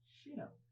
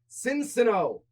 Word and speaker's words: Sinnoh: And you mispronounced the name again. Shino. It's the Shino region. Is it? Yes. There's no ancient. No, So, not Sinnoh. Cincino, Oh, the Pokemon.